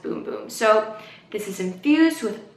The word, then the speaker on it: Bum Bum: boom boom cream so it looks like Brazilian bum bum cream which is for your bum bum and the rest of your bod but it's actually pronounced boom boom so this is infused